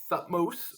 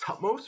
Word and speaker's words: Thutmose: So Hatshepsut was married to a pharaoh named Thutmose, or sometimes it's pronounced Tutmos, or sometimes it's even pronounced Tutmosa.